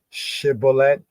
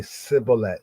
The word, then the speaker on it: shibboleth: Almost like somebody has a lisp. It's hard for them to shibboleth. They might say sibboleth.